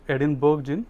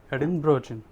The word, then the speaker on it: Edinburgh: is actually if you read it it is edinburgh but actually it is pronounced as edinburgh so they have the classic which is 4200